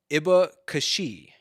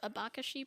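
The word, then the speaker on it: abacaxi: if i remember correctly i think it's pronounced something more like a a bakashi probably something like that okay okay um and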